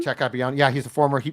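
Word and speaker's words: Capuano: Jack Capiano.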